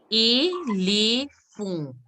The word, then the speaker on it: éléphant: Because AN is pronounced as on, like the way you pronounce dimanche, dimanche. So éléphant, fond. And here alphabet A, like the way you will pronounce it, because there is an accent. So that's why ele and T is not to be pronounced. Here it has to be a nasal sound.